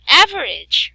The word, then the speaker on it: average: Like average, right? Average, you will not pronounce the letter E vowel sound there.